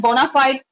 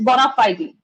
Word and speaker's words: bona fide: Actually, the real pronunciation is not bona fide, it's bona fide.